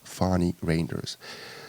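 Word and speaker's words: Fanie Reynders: my last name obviously so you have got Fani Reynders some American people or some other foreign people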